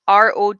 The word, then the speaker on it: Rodney: But it's Rodknee in this, and it's spelt Rodney, but with like your kneecap.